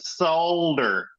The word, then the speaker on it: solder: look at this you're you're not pronouncing the L and solder yeah that's it we're